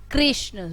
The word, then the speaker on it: कृष्ण: है, दृश्य है, और इसका जो उच्चारण होता है वो री होता है, री, कृष्ण। र, इसको, इस मात्रा को जब हम लगाते हैं और इसको पढ़ते हैं तो री करके पढ़ते हैं, कृष्ण, दृश्य, कृपा,